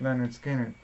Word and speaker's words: Lynyrd Skynyrd: that I picked up Lynyrd Skynyrd's pronounced Leonard Skinner the first almond and